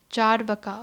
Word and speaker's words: Charvaka: The main Nastika schools are Charvaka, pronounced Charvaka, okay, it's called Charvaka, meaning sweet talkers, and Ajivika.